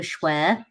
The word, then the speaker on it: Schwehr: my name is Schware rhymes with care on a good day